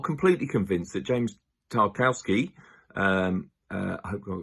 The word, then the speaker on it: Tarkowski: football and improved it james tarkowski or tarkowski as you probably would prefer to pronounce his surname decided to represent england